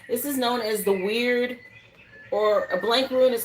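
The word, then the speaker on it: wyrd: This is like a weird faded type.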